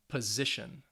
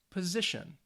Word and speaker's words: position: they have three syllables the words end with tion or sion the stress is on the second to last syllable so it's going to be on that middle syllable so let's say these